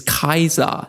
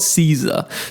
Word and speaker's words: Caesar: steelmanning the tyrant, and the correct Latin pronunciation is Kaiser, not Caesar, so Ghoul and Lucy are both incorrect whilst acting smug as hell.